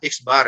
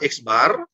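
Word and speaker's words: x̄: berikut nih rumusnya adalah x bar ini bacanya adalah x bar ya guys barat rata-rata seperti ini ini bacalah eksbar Yes bacanya Ya eksbar = Sigma Sigma bacaannya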